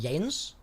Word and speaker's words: Yanis: Or was it Yanes? Oh, it is pronounced Yanis, yeah?